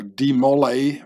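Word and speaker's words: de Molay: last Grand Master uh Jacques de mole uh or demolay As Americans say it mole which is a aristocratic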